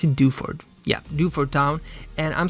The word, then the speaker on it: Dewford: Is that how you pronounce it? Dewford.